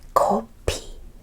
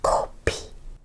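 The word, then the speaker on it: 커피: It's P with air. P. And this makes an E sound. So, two syllables. Copy. Copy.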